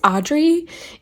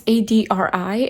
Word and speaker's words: Adri: The main issue in this book is that Stevie's ex-girlfriend, I think it's Audrey, it's Adri, and I keep pronouncing it Audrey, is super jealous, even though Audrey is the one who broke up with Stevie.